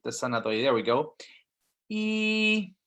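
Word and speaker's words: 一: sunna there we go e okay so remember first tone go up your pitch is higher and keep it steady e very good the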